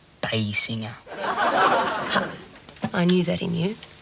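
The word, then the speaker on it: Basinger: rather go out with Kim Bassinger or me it's pronounced B singer I knew that in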